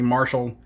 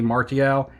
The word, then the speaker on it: Martial: I went on Beckett, found a bunch of Anthony Marshall 2016 Prisms. Martial, I think I've been pronouncing it wrong. I think it's Anthony Martial. It's French, guys.